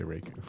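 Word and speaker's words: Raikou: Cloudbuck is not in fact the right way to say Raiku.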